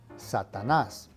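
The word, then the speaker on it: Satanás: probably guess means satan now make sure that you put the emphasis on the last syllable satanas said this frassa means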